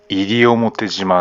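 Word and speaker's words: 西表島: 沖縄地方ではこのことから東を上がりと読み、西を入りと読む。だから西表島は入表島である。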